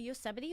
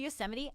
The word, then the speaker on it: Yosemite: the yosemite half marathon it's really not pronounced yo's my i just like to say that because we were talking about it here that it looks like yo's might so just ignore that